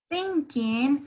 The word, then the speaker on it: thinking: Tenemos la palabra thinking. Miren cómo la lengua topa los dientes. Thinking, thinking, ¿sí?